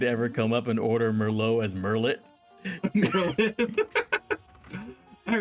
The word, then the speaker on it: Merlot: Merlot, like the wine?